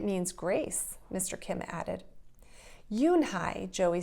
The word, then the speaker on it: Unhei: miss and it means grace mr kim added yoon hai joey said slowly and this time perfectly it